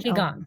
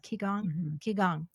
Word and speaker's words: Qigong: Qigong. Qigong. Okay. QI. It's spelled QIGONG.